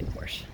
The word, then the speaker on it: Porsche: my 912 e my porsche 912e yeah proper pronunciation is porsha but i grew up in a mechanic shop in south texas and we say porsche comment if you have a problem with it